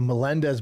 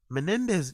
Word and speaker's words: Menendez: from like how how how do you get there Menendez you'd imagine of all